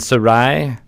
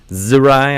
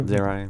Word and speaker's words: Zerai: Gith, both Yankee and Sarai. Zerai, I should say. Zerai. You got to pronounce the Z. It's the only way people will know.